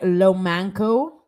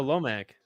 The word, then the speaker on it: Lomac: Hi, Lomanco. Did I say it right? Oh, Lomac. Oh, Lomac.